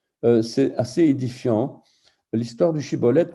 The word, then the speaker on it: shibboleth: L'histoire du shibboleth que les Giladides prononcent shibboleth et les Éphraïmites Siboleth, tendrait à démontrer, donc cette histoire tendrait à démontrer l'évolution et qu'elle ne fut pas homogène.